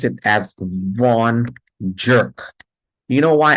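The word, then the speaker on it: Von Gierke: jerk you know why I want you to pronounce it as vau jerk because the first glycogen storage disease is like the first boyfriend and what is the first boyfriend he is a jerk okay seeon jerk now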